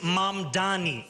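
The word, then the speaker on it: Mamdani: And furthermore, the name is Mom Dani. M A M D A N I. You should learn how to say it because we got to get it right.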